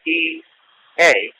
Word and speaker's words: Ea: Ea, spelled E-A, but pronounced Ea, is the origin of Oya and of Yah, and Yahu, and Yahweh, and Jehovah.